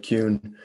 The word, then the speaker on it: Kuhn: And one of them, again, by Alvin Boyd Kuhn, his last name is spelled Kuhn, Alvin Boyd Kuhn.